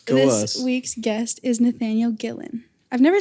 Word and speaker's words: Gillen: This week's guest is Nathaniel Gillan.